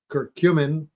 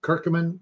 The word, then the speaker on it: curcumin: that's extracted from it called kurcumin or kirkumin if you want to pronounce it that way and that my